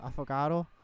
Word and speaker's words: affogato: I think it's pronounced affogato.